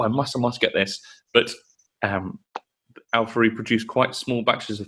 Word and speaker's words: Auphorie: So we are talking about "Song of Everlasting Sorrow" from Al-Furry. Al-Furry, I think is how you say it.